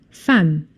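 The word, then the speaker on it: femme: The e is tricky because it's pronounced as an a sound. Fam.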